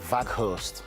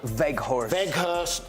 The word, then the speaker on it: Weghorst: thing that I would say is they've got Weghorst. How's that pronunciation? You like that one, didn't you? Wout Weghorst.